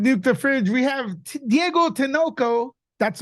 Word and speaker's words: Diego Tinoco: Lewis here with nuke the fridge we have Diego tanoko that's right pronunciation correct perfect that was perfect nobody gets